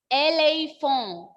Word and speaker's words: éléphant: In the pronunciation of this word in French is éléphant.